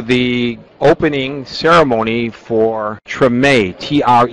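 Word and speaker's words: Tremé: opening ceremony for TR t r m but it's pronounced TR it's not short for extreme it's TR uh it's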